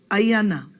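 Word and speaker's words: ʻaiana: Hikino, number one, ayana, ayana. Ayana is iron, just like irana, ayana, okay? And you have to be careful how you say it, and you don't say ayana, okay? But ayana.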